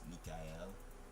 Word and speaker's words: Mikael: Do you know Kaiser's name is pronounced Mikael? Yes. I probably butchered it too, but I know because of the AEL, right?